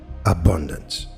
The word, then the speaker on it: abundance: For abundance, place the emphasis on the first syllable, abundance, while allowing your chest to physically expand as you speak.